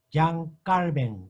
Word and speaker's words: Jean Calvin: Juan Calvino, en pronunciación de francés, Jean Calvin, Calvin, así pronuncia.